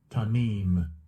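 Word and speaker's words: תמים: The pronunciation, I can even see here, I believe. Strong's H 8549. Tamim. Tamim. Tamim. Tamim. All right. That's how it is.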